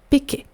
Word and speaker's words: péquet: Donc un alcool typique des fêtes de Wallonie, c'est le péquet. Le péquet, donc ça s'écrit P-E accent aigu K-E-T, c'est une orthographe un peu bizarre, c'est un mot qui vient du wallon.